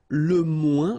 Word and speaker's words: moins: Okay, so le moins, remember when we combine this O-I-N together, we get the sound ouin, ouin, ouin, okay, and we don't pronounce this final S.